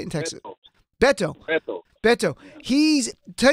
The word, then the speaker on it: Beto: you pronounce it's not we keep saying bed or work but it's really baito or how do you say in Texas Beto Beto he's Ted Cruz